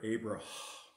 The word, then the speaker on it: Abraham: father of multitudes but in the hebrew the suffix is actually not pronounced it's just a rush of air abraham and sarai is going